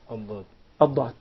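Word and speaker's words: ضاد: So basically, the tip of the tongue has nothing to do with pronouncing Ad-Dad. But it's involved in pronouncing the Dal. Yeah. That's why it's a mistake to confuse the Dad with the Dal.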